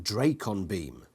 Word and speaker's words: Dracon beam: separated from the ship drakon beam pronounced dracon beam a jerk weapon that